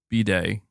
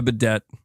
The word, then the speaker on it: bidet: B-day. Am I still saying it wrong? You know, I don't care. Just call it a fucking hose. Call it whatever you want. I said bite it. A bidet.